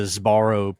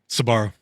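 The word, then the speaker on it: Sbarro: And my mind immediately went to Zabarro pizza. Is that how you say it? Sabarro. Sabarro, dude.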